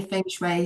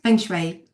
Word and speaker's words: Feng Shui: I say Feng Shui. Some people say Feng Shui and all that, but Feng Shui, that's how it's spelled.